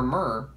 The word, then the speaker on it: myrrh: got our box and for mer that's spelled m y r r h m okay then right